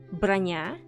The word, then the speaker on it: Bronya: also be Russian but if it is so it's supposed to be pronounced brania and means armor nobody really names their